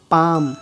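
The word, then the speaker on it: palm: एल, यदि किसी शब्द के अंत में एल के या एल एम साथ में आ जाए, एल के या एल एम, तो ऐसी कंडीशन में एल का उच्चारण नहीं होता, जैसे walk, chalk, talk, पाम, बाम, काम, ऐसे वर्ड में एल का उच्चारण नहीं हो रहा है, ओके।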